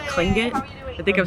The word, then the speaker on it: Tlingit: So the guy who owns the shop is Native Alaskan, and the tribe from this area is called Tlingit. I think I'm saying it correctly. Tlingit, yep.